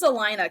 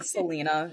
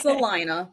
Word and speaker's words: Salina: so so it's pronounced salinaa Kansas the locals corrected me when I was saying Selena it's salinaa okay um they have